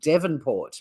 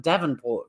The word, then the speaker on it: Devonport: We've also got a town called Devonport with an E in it, but people call it Davenport from the mainland, and vice versa.